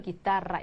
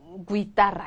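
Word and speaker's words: guitarra: 이제 그 기타를 스페인어로 기다려라 이렇게 얘기하거든요 그래서 이게 기예요 이거 구이 하시면 절대 안 되는 거죠 그런데 이거 아무리 얘기해도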